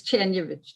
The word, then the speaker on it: Czerniewicz: It's Czerniewicz, Czerniewicz.